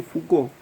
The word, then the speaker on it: Foucault: Sí, se escribe raro, ¿no? Pero se dice Foucault, es sencillo.